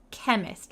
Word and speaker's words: chemist: the chemist I know the pronunciation is a little bit hard so we don't say chemist we say kk chemist like a k the chemist needed to